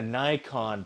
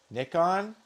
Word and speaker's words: Nikon: It's Nikon. Like it's like Nike. Do you call it Nikke? Is that a Nike? I say it like Nintendo. Nickon.